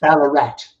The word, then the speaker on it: Ballarat: And that is in the is again with the pronunciation is the Ballarat Times? Ballarat.